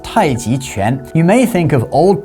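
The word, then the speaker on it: 太極拳: So when you think of Tai Chi, or in Chinese it's pronounced Tai Chi Quan, you may think of old people in the park in the morning practicing slow movements for health.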